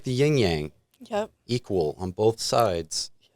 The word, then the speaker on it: yang: Yang is the pronunciation. Yang? So it's still a G at the end. Yeah. Yang. But you get it in your nose? Yeah, a little neat. Like a gong.